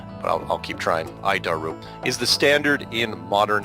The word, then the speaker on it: ADIRU: as the air data initial reference unit we pronounce it it's a horrible name but i'll keep trying i daru is the standard in modern avionics it's at